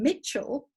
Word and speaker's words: Mitchell: The letter E in Mitchell is silent.